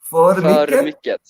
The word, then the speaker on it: för mycket: För mycket.